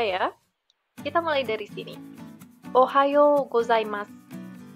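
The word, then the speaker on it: おはようございます: gozaimasu artinya selamat pagi ingat ya kalau kalian nemu huruf oishii tanda seperti ini dibaca agak panjang pengucapannya kemudian huruf pun disini saya isi tanda pengucapannya itu agak kecil bisa sampai tidak terdengar Ohayo gozaimasu Oke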